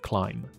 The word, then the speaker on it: climb: 没有 be 这个发音 climb.